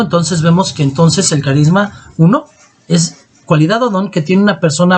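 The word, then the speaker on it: χάρισμα: esta clase y el carisma viene de la palabra griega carisma así se pronuncia pero las letras obviamente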